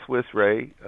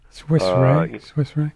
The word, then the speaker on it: Swiss Re: And one of the there's a company called Swiss Re, which is the second largest reinsurer in the world. Swiss Re. Swiss, and then RE. Mm-hmm. I think it's pronounced Swiss Re, and they put out a statement just recently on 5G.